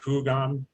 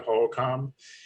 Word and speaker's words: Hohokam: And people like Barnaby would pronounce it Hugam as opposed to Hohokam.